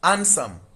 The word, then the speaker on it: handsome: This is handsome. This D here is silent.